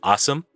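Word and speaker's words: OSEMN: follow that is called it's pronounced like awesome you know like awesome sauce.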